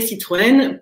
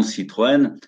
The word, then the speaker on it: Citroën: Et le tréma sur le nom Citroën apparaît lors de l'inscription d'André Citroën à l'école pour faciliter la prononciation, parce que c'est une famille qui vient de Hollande. Et en Hollande, Citroën n'a pas de tréma, donc c'est plus difficile à prononcer.